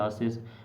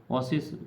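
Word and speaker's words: oasis: 38 का option number ओसिस या आसिस, ओसिस pronunciation आप ज़रा करेक्ट कर लीजिएगा।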